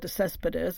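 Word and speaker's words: de Céspedes: side of the story a novel by Albert Des Cespedes am I pronouncing it correctly by the way yes that's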